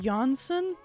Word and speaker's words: Jansen: also oh jansen is pronounced johnson is that true floor johnson what i had no